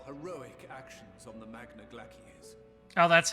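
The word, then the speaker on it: Glacies: i commend your heroic actions on the magna glaciers oh that's how you pronounce it all right forget your service to us and the people of raj i thought it was glaciers it's like glacier we have informed the refugees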